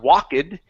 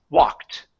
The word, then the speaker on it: walked: Okay, that word is not walked, it's walked. The E in the ed ending disappears. We do not pronounce the E.